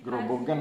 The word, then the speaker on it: Grobogan: Grobogan bacanya. Oh ya, Grobogan.